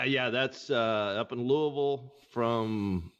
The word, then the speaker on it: Louisville: Say Louisville. She doesn't say Lewisville. She didn't say Louisville. Lewisville is outside of Dallas Fort Worth, Texas. So anyway, uh Louisville, Kentucky is how you say it.